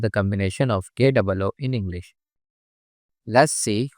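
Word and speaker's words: コ: Ko, Ko, The pronunciation of character Ko in Japanese is something like the combination of KOH in English.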